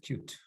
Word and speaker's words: Qt: Qt, que se pronuncia en inglés cute, algo así como bonito, ¿no?